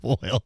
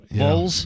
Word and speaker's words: vole: Jim Voiles. They're pronounced the same though, right? That's things voiles? Voles? Voles? V-O-L. Not voiles. V-O-L-E. I thought it was pronounced voiles.